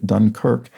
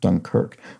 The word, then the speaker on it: Dunkirk: As a Brit, I can't recall ever having heard Dunkirk not giving second syllable stress in that manner, Dunkirk, which is the opposite to how it was clued in yesterday's puzzle in the New York Times, which called it Dunkirk, and it was important to solving the clue.